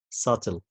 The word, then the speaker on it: subtle: نفس الكلام يا جماعة the same don't pronounce the letter B so like debt like doubt subtle okay طيب بالنسبة لحرف